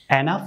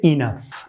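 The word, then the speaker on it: enough: এটা আপনারা উচ্চারণ করবেন এনাফ উচ্চারণ না করে এটি উচ্চারণ করবে ইনাফ, ইনাফ, আমরা এনাফ বলি স্বাভাবিকভাবে, তো এনাফ উচ্চারণ হবে না, এটি সঠিক উচ্চারণ হবে ইনাফ, ইনাফ, ইনাফ, ইনাফ।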